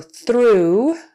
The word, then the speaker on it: through: So in those 2 cases, O-U-G-H is pronounced ooh.